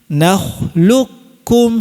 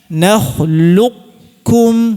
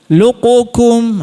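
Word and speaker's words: نخلقكم: Namun, ada versi yang kedua dan ini dibolehkan, silakan. Ya. Yaitu qaf-nya sifat qaf-nya tetap dihadirkan sifat tebalnya. Ya. Kita baca Nakhluqukum, silakan. Tapi, jangan dikalqalahkan. Kalau dikalqalahkan susah.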